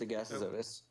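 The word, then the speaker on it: Agassizodus: It's Agassizotus.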